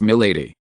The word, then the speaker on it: Milady: "Yes, lady, and in French it is pronounced Milady.